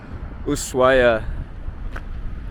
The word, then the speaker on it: Ushuaia: Here we are, Ushuaia. The H is silent for some reason, but it's so beautiful here.